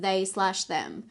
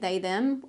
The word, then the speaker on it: They/Them: today we're gonna watch they slash them and it is pronounced they slash them if you didn't know they've actually typed it out that way on the wikipedia and i'm glad because